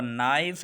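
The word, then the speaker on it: knife: यहाँ पर नाइफ है, यहाँ पर फिर N से पहले के आया इसलिए कि साइलेंट है। हम जो प्रोनाउंसिएशन है इंग्लिश का वो N से शुरू करते हैं, के को साइलेंट रखते हैं।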